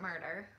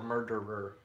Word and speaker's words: My Favorite Murder: your videos, listen to is it My Favorite Murderer or Murderer? Murder. Okay, I've been saying it wrong for like a year now.